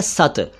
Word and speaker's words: सत: में एक शब्द है सत। सत का अर्थ सत्य, सही, वास्तविक, सेवन, जूस, एसेंस, शक्ति, बल वगैरह। और सत को अगर आप शत कर देंगे तो शत का अर्थ होता है 100।